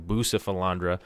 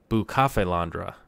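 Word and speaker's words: Bucephalandra: how it's said but I keep saying boo Sifl Andra because I only read it it never heard anybody say it but then I look up the pronunciation for it and it's a boo cough Alondra like a cafe boo cafe londre so hope I'll be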